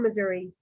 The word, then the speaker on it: Missouri: Yeah, and this one guy kept saying Missouri, which I didn't understand. Oh, Missouri. A lot of people in Missouri pronounce it Missouri.